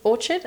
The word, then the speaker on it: Orchard: I think Orchid is Orchard I keep saying Orchid but it's pronounced Orchard Orchard is really good and